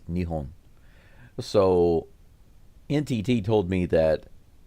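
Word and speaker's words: 日本: So the word for Japan in Japanese sounds nothing like Japan. It's Nihon.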